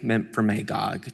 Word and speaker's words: Memphremagog: And I also just want to say, I took a lot of time to pronounce this right this year, Lake Memphremagog, just so the the member from Derby knows I learned I learned.